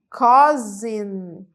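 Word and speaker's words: cousin: primo é mesma palavra em inglês é a palavra cosin cosin cosin Então esse S tem um som de z tá cosin então a nossa lista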